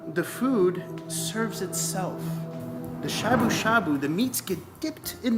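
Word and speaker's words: shabu-shabu: Shashu. Shabu shabu. Sushi. No! Shabu shabu. I'm following, but I'm not understanding. Is this It's literally 2 words. And it's the same word twice.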